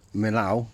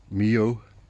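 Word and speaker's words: Millau: The place I stayed at in what I was pronouncing as Milau, it's actually Mio, was one of these places as well.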